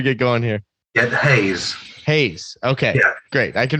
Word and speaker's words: Heyes: right before we get going here get hay Hayes okay yeah great I can remember that I